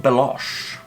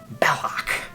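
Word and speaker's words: Belloq: They call him Belosh. Belloc.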